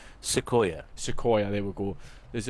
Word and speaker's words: Sequoia: Sequoia.